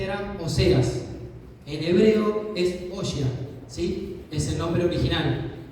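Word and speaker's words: הושע: En hebreo es Oshia, ¿sí? Es el nombre original. Se dice así, se escribe, no es muy difícil, pero bueno, no es detalle tan importante.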